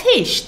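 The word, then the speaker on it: heescht: Wat heisht dat? Now, listen and repeat after me. Wat heisht dat?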